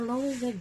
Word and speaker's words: Loewe: So, according to my research, the correct pronunciation is Loewe. So there. It's a Loewe bag, and it has a replacement sling already.